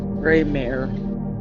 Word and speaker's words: Greymayre: It's called, okay, I'll spell it out for you, so so it's Greymayre, Greymare.